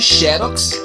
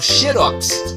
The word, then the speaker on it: xerox: Há, no entanto, palavras que admitem duas pronúncias, como é o caso de xerox ou xerox.